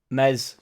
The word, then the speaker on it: Meslier: some to do with um mes silent s obviously has some to do